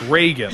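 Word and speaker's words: Ragan: Do you want to guess how his name is spelled? R-E-G-A-N? No, it's R-A-G-A-N. Okay, well that makes sense. Reagan.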